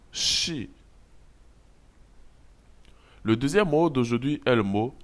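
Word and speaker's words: 是: dans la langue chinoise l'initiale s h se lit comme dans le mot chat en français la finale qui se lit comme le i français nous allons donc shi le deuxième mode aujourd'hui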